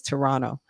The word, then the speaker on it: Toronto: Toronto like they're saying you don't pronounce the t's as strongly so it's Toronto and just came to